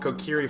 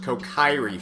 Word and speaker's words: Kokiri: I even used to call Kokiri Forest Kokairi Forest. I don't know. I was never really sure how it was pronounced.